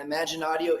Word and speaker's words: Imaginaudio: And Imaginaudio is spelled IMAGANITIO. So imagination without the N.ai.